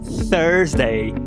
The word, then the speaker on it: Thursday: Esse Thursday é com a desvoziada, não é com não. Tá bom? Então, olha a diferença, olha o contraste. Quando você fala este é this, quando você fala quinta é Thursday.